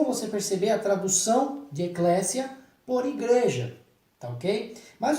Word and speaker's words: Eclesia: muitos dos brasileiros fazem eclesia ou Eclésia né com z Então esse essa sonoridade com z tá errada tá OK você faz a pronúncia com o som de s Eclésia é interessante que essa